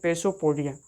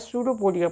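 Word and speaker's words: pseudopodia: कहते हैं, या फिर ज़्यादातर बच्चे नाम देखकर प्रोनाउंसिएशन करते हैं पेसोपोडिया। पेसोपोडिया ऐसे पढ़ते हैं तो जैसे पेसोपोडिया पढ़ेंगे तो पी से लिख भी देंगे, लेकिन असल में उसका पी साइलेंट होता है, सूडोपोडिया पढ़ा जाता है उसे, ठीक है।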